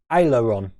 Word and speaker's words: aileron: Say it like ale. It's that first word, David. Is it ale or oil? Ale? Ale? Aileron.